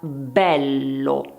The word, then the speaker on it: bello: e e pertanto chiusa, oppure è come nella parola bello è.